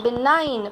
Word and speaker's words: benign: boys gandhiji looked like a benign see the pronunciation benign benign means kind benign means kind to the